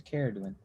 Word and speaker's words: Cerridwen: Cerridwen. Yeah. Got the hard K, guys. Cerridwen.